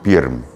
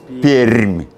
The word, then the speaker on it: Пермь: Вы говорите Пермь, а это неправильно. Можно как-то мне камеру перевести на... Она не поворачивается. Вот у Сашки такая майка. Скажи громче. Р мягкая. Р мягкая. Пермь. Пермь.